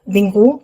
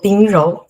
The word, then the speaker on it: Bingru: Je m'appelle Bingru, mais en réalité, en chinois, on prononce plutôt Bingrou.